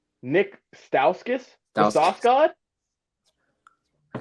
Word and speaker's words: Stauskas: we're gonna go with what pickle is Nick stakis Nick Stauskas that was off God I said that wrong